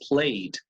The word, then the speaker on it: played: sonido es vocal Play la Ed suena como una d pero la d del inglés played que es medio entre b y t casi no es cierto entonces worked played no work it ni Play it Okay no olvidarán eso